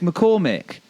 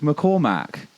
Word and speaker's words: McCormick: But you're getting his name wrong. His name's McCormick. Luke McCormick. And yet all the chants are all Luke McCormack. That's not his name.